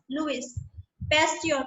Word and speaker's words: Louis Pasteur: It's pronounced as Louis Pasteur.